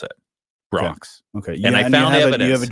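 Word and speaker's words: Brach's: That's how they pronounce it. Brock's.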